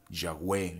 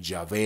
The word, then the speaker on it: Yahweh: Dice así, oh Señor, Yahweh, aquí coloqué el tetragramatón Yod-Hei, Bat-Hei, le dan esta pronunciación, Yahweh, Yahvé, el famoso Yahvé.